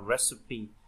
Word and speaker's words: recipe: là những cái gia vị, recipe, cái này đọc là recipe, có nghĩa là công thức.